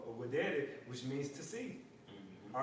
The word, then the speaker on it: videre: All right, with the V, but it's pronounced videre, which means to see.